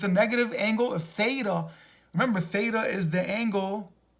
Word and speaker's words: theta: And it's pronounced theta.